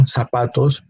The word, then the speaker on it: zapatos: and sapatos no zapatos the pronunciation of sapatos differentiation of this Z initial Z and an ending s is the same no we don't have to we don't have to leave make a different sound because they have the same sound in Spanish zapatos